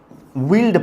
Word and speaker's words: veiled: उसके बाद एक अच्छा सा वर्ड है बच्चे, ये भी लिखना, विल्ड पढ़ते हैं इसको बच्चे। क्या पढ़ते हैं इसको? कुछ बच्चे वाइल्ड पढ़ने की कोशिश करेंगे, बेटा वाइल्ड नहीं होता, VEILED, यहाँ पे स्पेलिंग सही कर लेना बच्चे, VEI है, ठीक है, VEILED।